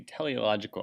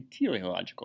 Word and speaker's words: teleological: the argument from design also known as the teleological argument sometimes pronounced the teleological argument here is essentially